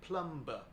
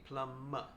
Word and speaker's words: plumber: If we read it exactly how it is written, it sounds like plumber. But in English, the B is silent, so it's actually plumber, and we focus on the M sound at the end.